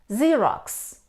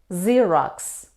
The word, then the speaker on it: Xerox: we say xylophone xylophone it's a musical instrument Xerox Xerox a process for producing copies of letters documents we pronounce this word see see but how do